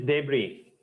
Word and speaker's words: debris: to speak in English the pronunciation is debris when the a demolition